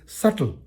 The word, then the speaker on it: subtle: e is not subtle B is silent it is subtle I repeat s-u-b-t-l-e is